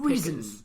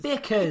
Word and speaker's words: Bickers: You just said Pickers. You just said Pickers. Bickers. Yeah, I know it's Bickers, but you said Pickers.